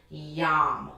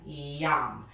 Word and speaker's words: yam: going to be using the word yam y a m yum now that tones the